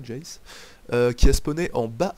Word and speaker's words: Jace: Ouais, ça doit se prononcer à l'anglaise, ouais, Jace.